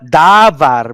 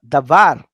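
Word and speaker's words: דָּבָר: Not davar, but davar, because last syllable.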